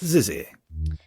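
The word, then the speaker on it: XYZZY: But now we have this Zizzy. And that's how you pronounce it.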